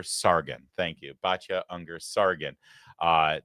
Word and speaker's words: Sargon: So, now Bacha uh uh I always get her name wrong. Sarger Sargon.